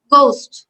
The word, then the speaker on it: ghost: আসলে উচ্চারণ হয় না, যেমন আমরা কি বলি গোস্ট, ভূত, GHOST, বাট উচ্চারণ হচ্ছে GOST, গোস্ট, বা এইচটা উজ্জ থাকতেছে।